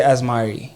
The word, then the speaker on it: Azmari: gave me a look how do you feel you should say it like listen to your heart so it says I feel like I should say as Mari exactly okay there we go